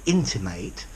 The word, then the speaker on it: intimate: person intimated a verb notice with the verb to intimate there is a secondary stress on the int at the beginning so it's too intimated intimated this means to say indirectly